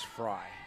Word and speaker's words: Frey: Actually, the pronunciation is Fry, okay? F-R-E-Y, but they pronounce it Fry.